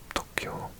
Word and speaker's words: Tokyo: dawned on me that I said it because I did a year of evening classes in Japanese and Tokyo was pronounced to Tokyo and this person thought